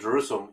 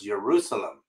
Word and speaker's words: Jerusalem: And believe it or not, Jerusalem was not pronounced with a J either. The city of Jerusalem was Jerusalem. Jerusalem. So there is no J.